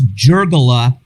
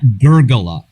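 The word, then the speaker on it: Giurgola: on the talk is it's jergola not gurgla with a soft g pardon my italian no problem uh well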